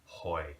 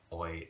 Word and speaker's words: hoy: So in Spanish with H, you don't want to pronounce it.